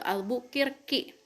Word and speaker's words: Albuquerque: dipimpin oleh alfonso de albuquerque kick nah kalau orang kalau kalian waktu smp atau mts pasti bilang alfonso itu bukan the above all bukir kick ya kan pasti alfonso de albuquerque ya kan hayo ngaku